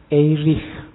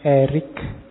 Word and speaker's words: Erich: erish from membacanya Kalau bahasa aslinya karena lahir di Jerman orang Jerman membacanya eich from tapi nanti dia saat sukses hidupnya di Amerika orang Amerika membacanya lebih suka pakai Erik Jadi belakangnya k makanya kita membacanya santai aja Gak harus kaku harus Erik nanti lidahmu melungker biasa aja dibaca Eric from seorang tokoh yang dikenal